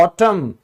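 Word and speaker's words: autumn: जैसे पतझड़ इसको हम कहते हैं ऑटम क्योंकि ये साइलेंट है।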